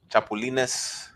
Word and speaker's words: chapulines: Chapulines.